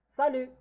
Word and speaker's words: salut: Salut. Salut. Again, the T is not pronounced here.